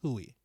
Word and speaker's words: Huy: He said it's Huey.